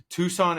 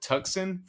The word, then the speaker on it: Tucson: they were to blame like Tucson Arizona I called it tuxen for the longest I was like you're